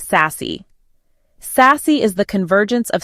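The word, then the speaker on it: SASE: The solution is a secure access service edge, SACE, pronounced sassy.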